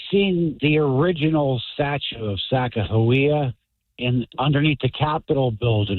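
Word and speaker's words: Sacagawea: Hey, I seen the original statue of Saka Hawia in underneath the Capitol building in DC about 12 stories below ground. And there's no J. It's Saka.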